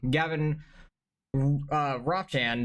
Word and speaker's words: Gavin Ropchan: Gavin Ropchan, that's how you say his name. It's like Mop, but Rob.